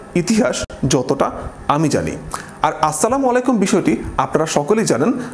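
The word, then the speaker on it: السلام عليكم: সালাম আলাইকুম শব্দের আরবিতে কোনো অর্থই দাঁড়ায় না। আসসালামু আলাইকুম মানে আপনার উপর শান্তি বর্ষিত হোক।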